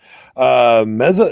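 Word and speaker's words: Meze: Titan Cronus about meza he says is actually the pronunciation meza is a Romanian headphone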